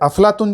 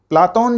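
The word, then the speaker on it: Πλάτων: अफलातून जो नाम है वो अरबी भाषा का है, और अरबी भाषा में ये अफलातून है वो विकृत रूप है, वास्तविक रूप नहीं है। प्लाटोन जो शब्द था सही उच्चारण था प्लेटो का, उसी को बाद में अपभ्रंश होकर अरबी में वो क्या बन गया, अफलातून।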